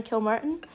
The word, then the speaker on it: Kilmartin: Kilmartin? Mm-hmm. Anna Kilmartin.